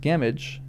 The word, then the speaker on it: Gamwich: Gamwich, pronounced Gamage, seemed therefore a very fair rendering.